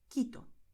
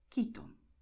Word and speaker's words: Quito: But in these combinations here, QUE, QUI, the letter U is silent. Okay, so you write it, but you do not pronounce it. This is why you're going to say Caracas, Colombia, Cuba, Querétaro, Quito.